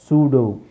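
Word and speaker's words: pseudo: ಅಲ್ಲೇ ಕಂಟ್ರೋಲ್ ಆಗೋದು ಆಮೇಲೆ ಸೂಡೋ ಸೂಡೋ ಅಂದ್ರೆ ಸ್ವತಹ ತಾನೇ ಮಾಡು ಹುಟ್ಟಿಸಿಕೊಂಡಿರುವಂತ ಸೂಡೋ science ಸೂಡೋ ಸೂಡೋ ಆತರದ ಪದಗಳಿದೆ ಸೂಡೋ ಅಂತ ಬರುತ್ತೆ ಪಿ ಸೈಲೆಂಟ್ ಎಸ್ ಇ ಉಲೋ ಇನು ಸೈಲೆಂಟ್ ಆದ್ರೆ ಇ ಮತ್ತೆ ಯು ಸೇರಿ ಉ ಆಗುತ್ತೆ.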